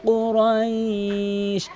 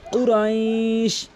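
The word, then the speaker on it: قريش: লি ইলাফি কুরাইশ, অধিকাংশ লোক কিন্তু কুরাইশ বলে, কুরাইশ এখানে কফ রয়েছে, কুরাইশ বলতে হবে, কুরাইশ ধাক্কা দিয়ে কুরাইশ, অধিকাংশ লোক কুরাইশ বলে। কুরাইশ কুরাইশ কফটি জিব্বার গোড়া উপরে তালু থেকে ধাক্কা দিয়ে কুরাইশ।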